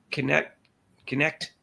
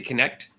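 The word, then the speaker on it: Knecht: I'm not sure how to pronounce his last name, but Dalton Connect. I think they say Connect.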